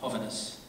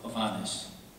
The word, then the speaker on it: Hovhaness: He added a few letters, and at first pronounced it Hovhaness. Somewhere in the mid-1940s, according to his sister, he decided to go with Hovhaness. So, take your pick. But I've heard most of the time Hovhaness. I've heard interviews with them